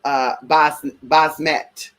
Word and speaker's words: Basmet: know, I call myself Basmet. That's my name, Basmet. Yes, honey, Basmet. I said what I said. Basmet. And you could add an H up in there too, girl. The H is silent.